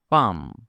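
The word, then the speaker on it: palm: যেমন পাম এখানে এল এর উচ্চারণ হয় না।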